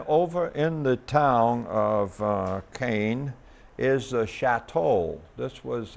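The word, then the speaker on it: Caen: I pronounce it Cane, but they pronounce it with a grunt, so it comes out like Kung.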